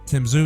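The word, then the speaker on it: Tim Tszyu: Tim Zhu, is that how you say it?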